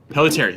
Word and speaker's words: Pelletieri: this is a particular product that I never pronounce her right name. Is it Pelletieri? Pelletieri, that's it.